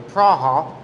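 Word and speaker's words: Praha: i teach over at craig or prague or prawha however you want to pronounce it and i'm going to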